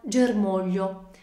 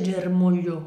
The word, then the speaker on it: germoglio: e tutte le altre prendiamo ad esempio la parola germoglio che noi sappiamo essere divisa in tre sillabe ger ma io nel pronunciare questa parola la sillaba su cui cade l'accento è mò che nel nostro